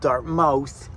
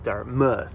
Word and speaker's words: Dartmouth: We're at the Walmart in Dartmouth. I pronounced that right for all my East Coasters. They're like, it's not Dartmouth, it's Dartmouth. That's how they pronounce it.